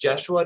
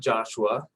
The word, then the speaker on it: Joshua: So 2 really important things for you today is it's pronounced Jeshua, not Joshua.